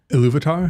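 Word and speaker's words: Ilúvatar: gift of how do I say his name iluvatar yes or ilat depending on who's saying it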